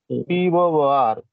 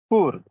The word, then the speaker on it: poor: This is P-O-O-R. You generally pronounce poor, right? Yes, sir. But its correct pronunciation is poor.